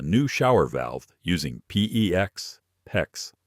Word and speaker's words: PEX: In this video, I'm going to walk you through the complete process of installing a new shower valve using PEX, PEX, rhymes with flex.